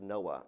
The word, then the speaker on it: NOAA: Oceanic and Atmospheric Administration's name is pronounced Noah as in the guy who survived the floods one notable expenditure occurred in 1967 when the u.s.